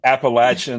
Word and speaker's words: Appalachian: It's either Appalachian or App State. It drives me crazy when they say Appalachian or Appy State.